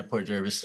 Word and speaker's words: Port Jervis: Port Jervis am I saying it right yeah Port Jervis yeah sorry I should have looked it up